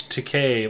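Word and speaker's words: Takei: No, he said it's pronounced He said Shatner should know how to pronounce it because it's Teay like to pay.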